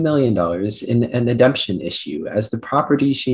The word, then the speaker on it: ademption: Nikki lost $2 million in an ademption issue as the property she inherited from her grandfather is no longer existent at the time of his death.